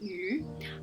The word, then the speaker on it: 雨: This is my character Yu, which is meant to be the Chinese word for rain, which is pronounced Yu, but of course, because we have an anglicized